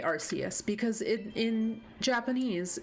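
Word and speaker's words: Arceus: I will say um I'll use the Japanese pronunciation so like I don't say archus I say arus because in in Japanese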